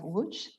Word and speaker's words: Łódź: Lipian, who currently works at the University of Łódź in Poland.